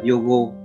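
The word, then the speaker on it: 用語: Từ đầu tiên thì từ này âm Hán của nó sẽ đọc là dụng ngữ, và cách đọc của từ này thì sẽ là yogo.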